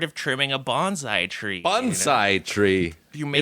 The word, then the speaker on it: bonsai: Bonsai tree. You make It's the cuts. pronounced bonsai. Bonsai. That's how we did it in Okinawa. Not bonsai.